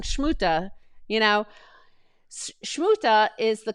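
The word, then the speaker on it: Смута: is it it's is shmuta not smuta it's like shmuta but it was kind of like somewhere in between it wasn't really that harsh shmuta it was it was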